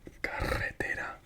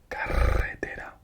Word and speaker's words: carretera: If it's double R, like carretera, it's pronounced again like this one, like at the start. Carretera. Carretera. So the same, it's pronounced the same, but it has to be double R.